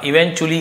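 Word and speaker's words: eventually: ट लिखा हुआ है बट च इवेंचुअली ऐसे उच्चारण किया जाता है।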